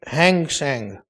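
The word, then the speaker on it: Hang Seng: If it is written hand you make it hang sang the indices of Hong Kong stock exchange is it right?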